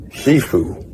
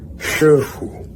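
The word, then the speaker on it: 师父: And so foreign pronunciation would be Shifu, but actual pronunciation would be Shifu. Shifu and Shifu.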